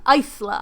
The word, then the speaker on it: Isla: And so there's no in Isla. Not in the pronunciation. Isla.